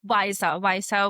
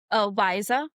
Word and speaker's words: Wysa: If I look at apps like Visa was a startup that started in Bangalore.